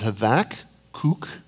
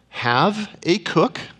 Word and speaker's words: Habakkuk: and as I said the Hebrew pronunciation is have AK kook and and the way you can can do this we're all gonna become linguist this morning is you can say have a cook go ahead have a